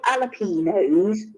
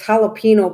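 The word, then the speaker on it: jalapeño: pronouncing right because it's jalapeno because the j in mexico and spanish is pronounced h so that's why it's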